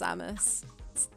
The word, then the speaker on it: Samus: The helmet comes off and it's just Samus. Samus? Is that how you pronounce it?